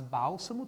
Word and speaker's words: bálsamo: Não, mas bálsamo tem a sílaba tônica na antepenúltima posição. Bálsamo, gente, é uma proparoxítona.